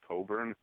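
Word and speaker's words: Cockburn: for the Senate for her last name is pronounced Coburn I believe Martian way so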